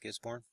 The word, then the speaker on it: Gisborne: Zealand its northeast of Gisborne New Zealand that the way you say it gets born the Aussie Aussie subscribers